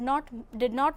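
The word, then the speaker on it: know: For example, in the word no, K is silent.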